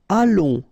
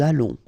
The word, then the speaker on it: allons: Nous allons, remember, final S not pronounced. O and together, it's on. And then we'll make this little link between the two, what we call the liaison. Nous allons.